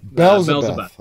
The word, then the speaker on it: Belzebuth: How do you pronounce that? Belzebuth.